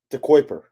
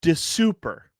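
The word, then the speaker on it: De Cuyper: Yeah, How do you think that's pronounced? De Kuiper. Incorrect. I thought the same thing. It is Maxim de Super.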